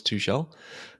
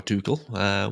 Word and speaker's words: Tuchel: So he actually spent some time with Thomas Tuchel, or Tuchel, would depend on which way you want to pronounce it.